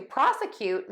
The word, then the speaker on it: prosecute: For prosecute, we're going to stress that prosecute. Unstressed middle syllable, and then we're going to end in cute, like you are cute.